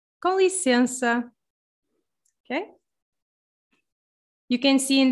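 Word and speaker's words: com licença: kong license okay we have there also kind of a nasal sound in lisiens you see this n so n also if it's like in the middle uh can also become ver nasal uh so yeah i'm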